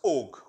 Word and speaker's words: ague: As I take it, an ague, or it can also be pronounced as og. Okay, so there can be 2 different pronunciations.